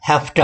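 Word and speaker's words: have to: इसकी प्रोनाउंसिएशन जो है हैफ्टा, अक्सर जब इसको कॉन्ट्रैक्शन फॉर्म में यूज़ करते हैं इसको लोग हैफ्टा बोलते हैं, हैफ्टा।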